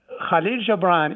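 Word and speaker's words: Gibran: called KH Jaan now KH Jaan is how we pronounce it in Arabic but I'm sure the English speaker will pronounce the name KH a little bit different because you don't have the letter and the second example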